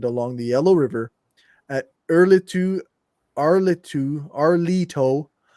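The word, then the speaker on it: Erlitou: Nevertheless, most agree that the Xia capital was located along the Yellow River at Arlito. That's what it's actually pronounced, Arlito.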